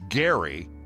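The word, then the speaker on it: Gerry: If it's named after Elbridge Gary, then it would be Gary Mandering.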